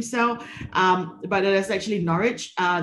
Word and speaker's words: Norwich: word here is not norwich which a lot of people are doing so um but there's actually norwich uh there's no w in that pronunciation so it's norwich um so coming to